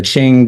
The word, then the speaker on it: Qing: And so you can see at the very top here is it's pronounced Qing. I checked that out.